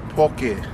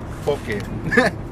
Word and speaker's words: poke: Make sure you pronounce it right. It's poke. Poke.